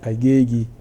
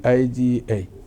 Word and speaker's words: Agege: Instead Agege. Instead of calling it Agiga, now they turn it to Agege.